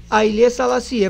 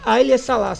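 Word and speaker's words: Haile Selassie: na na na faculdade E pessoas próximas de ail salaci mas o nome certo é aile sala é a pronúncia correta eu fui aprender isso depois né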